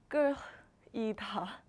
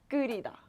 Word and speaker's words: 끓이다: So when you see this verb 끓이다, then just pronounce it this way because this is the correct pronunciation. So don't try to like pronounce 끓이다 in like 끓이다 because that's wrong. So just call it 끓이다 because this is the right pronunciation for 끓이다.